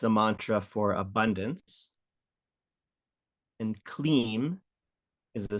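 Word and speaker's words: क्लीं: So the mantra is pronounced Hreem, Shreem, Kleem, Parameshvari, Svaha.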